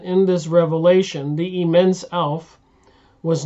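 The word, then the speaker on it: Aleph: word elf revelation elf elf the first letter of the Hebrew alphabet it is silent elf so I guess I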